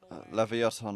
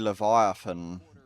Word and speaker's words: Leviathan: They need to get uh Levaton out of there. I mean, they're pronouncing it wrong, though. It's actually Leviathan.